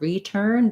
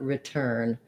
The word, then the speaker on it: return: this vowel like did same thing in return it's not return but return that's just because the turn is where the stress is so you really want to feel and hear turn return that if i say return the e makes it too tense it makes that unstressed syllable sound stressed or too long but in beyond beyond